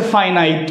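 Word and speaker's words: finite: উচ্চারণটা হচ্ছে ফাইনাইট। বুঝতে পারছেন? অনেকেই ফিনিট বলে। দুইটা উচ্চারণই সঠিক। ফিনিট ফাইনাইট। দুইটা উচ্চারণ সঠিক।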